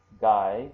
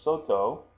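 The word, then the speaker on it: 外: And if you notice here, the pronunciation of this can be gai, which means outside or foreign. So when you talk about gaijin or foreigners, that's what that means. And here also soto, which means outside, like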